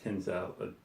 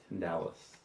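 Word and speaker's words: Tindalos: Hounds of Tinsel. Hounds of Tindalis. Tindalis, I believe is how it's pronounced. I always call it tinsel, I don't know why.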